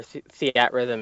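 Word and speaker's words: Theatrhythm: So, I have to tell you that I interviewed the uh director for Theat Rhythm at uh at E3 a few years ago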